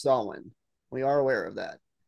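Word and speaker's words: Samhain: just so everybody knows we're call we're saying Sam Hayne because that's what the ghost Demon's name is in the cartoon that's what everybody says we are aware that it's pronounced soln we are aware of that but we're going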